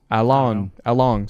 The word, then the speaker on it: Along: The fact that on my subtitles his name is spelled Alan and they call him, like, it sounds like Long. So Along. So Along, that character, Chow